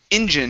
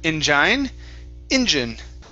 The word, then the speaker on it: engine: okay very nice and this word here is pronounced engine instead of injine very good and this